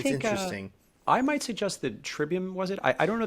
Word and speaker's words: Trivium: which by the way my Latin teacher in Middle School said no it's triwium and I was like well they are just pronouncing it wrong then because I don't know what to tell you they all say Trivium like it's triwiim it's like all right